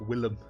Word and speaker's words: Willem: William pronounced Willem, like Willem Dafoe.